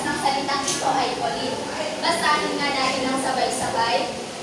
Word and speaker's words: choline: Mga bata, ang tamang pagbigkas ng salitang ito ay choline.